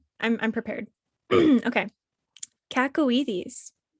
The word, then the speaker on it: cacoethes: Kacowites. What? Kakaw Kakawites. Bless you. It's spelled uh c a c o e t h e s and it means an irresistible desire or urge to do something inadvisable.